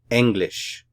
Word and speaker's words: English: The syllabification for this word is eng and lish. English. Stress is here on the first syllable.